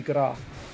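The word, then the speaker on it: grâce: It's the word grace, but it's pronounced as gra.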